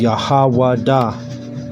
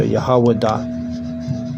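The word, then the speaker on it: יהודה: And then this is how you say it in Hebrew is Yahwadah. That's how you say Judah, Yahwadah.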